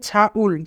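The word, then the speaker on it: 장을: এখানে ইয়ং বাচ্চিমের পরে ইয়ং থাকার কারণে ইয়ং এর উচ্চারণ হবে না, তাই উচ্চারণ হবে ছাউল।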